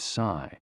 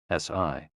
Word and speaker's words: si: shh, with a deep sigh, which is associated with the liver. HE, pronounced like her, with a yawn, which is associated with the heart. SI, pronounced like sir, with a slow exhale, which is associated with the lungs.